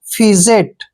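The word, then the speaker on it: fidget: से आई आए तो वहां पर डी जो है साइलेंट हो जाएगा एफ आई का उच्चारण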